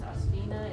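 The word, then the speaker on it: Osphena: It's pronounced Osphina.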